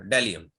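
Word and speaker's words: bdellium: हाँ जी, डेलियम फिर B silent होगा। अच्छा अच्छा, डेलियम डेलियम है जी।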